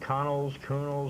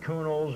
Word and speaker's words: Connell: Someone told me the exact pronunciation of this gentleman's name who owned this hotel. If you say Connell, you'll get it right every time. They say it was not Coonells or Cunleys or Cannells, it was Coonell.